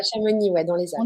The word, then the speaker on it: Chamonix: C'est ça, à Chamonix, ouais, dans les Alpes. On dit pas le X, hein.